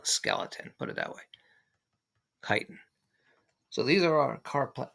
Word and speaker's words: chitin: and this is chitin it's that's what how it's pronounced chitin and it's used by